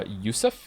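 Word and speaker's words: Yosef: about having many names the name Joseph is pronounced uh Yousef in the orig in its original Hebrew form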